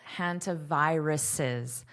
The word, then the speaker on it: hantaviruses: This has to be pronounced as an extra syllable. Hantaviruses, viruses, viruses, viruses.